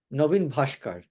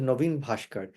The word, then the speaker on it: Naveen Bhaskar: I think Naveen Bhaskar. Actually, I said it wrong. His name is Naveen Bhaskar.